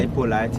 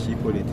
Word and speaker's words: Hippolyte: Hippolyte in English, Hippolyte for the French pronunciation.